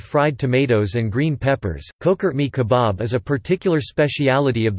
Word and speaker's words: Çökertme kebabı: Çökertme kebabı, pronounced Çökertme kebab, is a type of lamb kebab eaten in Anatolia, and associated particularly with the Bodrum area of southwest Turkey.